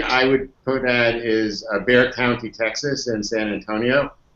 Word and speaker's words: Bexar: It's Bexar. It's pronounced Bexar County in Texas.